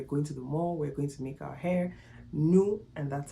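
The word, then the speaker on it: nous: please is not pronounced news the S is silent it's only pronounced if it's in front of a vowel but you assigns that it's pronounced new and new means we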